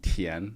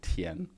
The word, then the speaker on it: 前: It's the ch, like a ch, but with the tongue position that we talked about in the pronunciation mastery course. Yours sounds more like a T. 很久以前 sounds more like a tian.